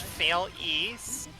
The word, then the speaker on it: Fail ES: Oh, we got Kofy in the chat saying, it's pronounced Fail East.